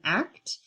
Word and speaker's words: ACT: deeper here in summary act is pronounced act not a ct because it's ultimately behavior oriented the goal is mindful